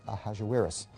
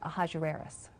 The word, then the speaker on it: Ahasuerus: Well, that was hard for the Jews to pronounce, so they said Ahashverosh. We know him as Ahasuerus.